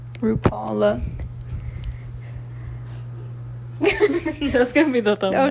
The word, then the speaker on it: RuPaul: RuPaul. RuPaul.